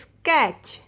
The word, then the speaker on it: sketch: looks at letter t rule of the silent letter t is before c h then letter t will be silent in this word you don't pronounce t t will be silent you pronounce this word is sketch sketch stitch watch match